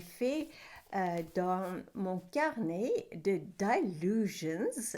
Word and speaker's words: Dylusions: Alors aujourd'hui, je vais partager avec toi une création que j'ai faite dans mon carnet de Dylusions. Je le prononce plutôt façon anglais.